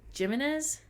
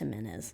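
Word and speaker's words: Jiménez: the summer by Abby jimnez I think it's am menz am menz oh shoot of course her that was my bad hope I didn't offend anyone by saying her last name wrong but thank you yeah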